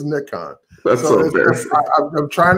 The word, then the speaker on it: Nikon: It's we in the United States pronounce it Nikon, but everywhere else in the world is Nikon.